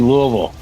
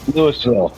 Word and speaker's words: Louisville: actually it's not called Louisville Louisville Louisville Louisville you got yeah you got you got to like just slur it all together well I always pronounce it like I'm saying blue oval that's that's how I